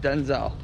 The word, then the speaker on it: Denzel: Here's something that I found was really weird about Denzel Washington, okay? Let's hear. His name isn't actually pronounced Denzel. It's pronounced Denzel.